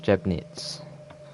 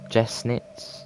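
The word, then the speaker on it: Jeßnitz: uh next station is jeb knits well i think if you i think in germany you pronounce the that funny b as an an s i think so it'll be jessnitz i think that uh yeah safer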